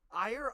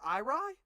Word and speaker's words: Irie: Hey Will, how do you pronounce IRIAIE? Are you spelling things? IRIE. How do you? R-I-E? Yeah. Is there an A in front of it? No. Ire? Irie? What? Yeah, Oh, Irie.